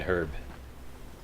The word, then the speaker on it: herb: For us, the H is not silent.